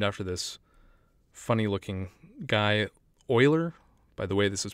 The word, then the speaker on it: Euler: is a slightly more useful formula which is euler's formula so euler's formula because it's named after this funny looking guy oiler by the way this is pronounced euler not